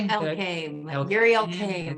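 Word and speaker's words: Yuri Elkaim: Elkame, sorry. Yuri Elkame. I know him very well because I work with him. Yeah. I work in Healthpreneur. Right? Mindset coach on his team. So yes, that's how you pronounce his name.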